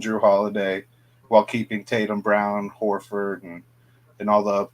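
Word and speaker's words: Braun: think uh losing Bruce Brown is gonna hurt but Christian Brawn you know stepped up really really actually I think it's brown it's just it's just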